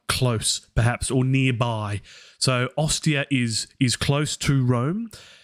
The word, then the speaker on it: Ostia: the italian peninsula there and we say ostia s proper okay so we were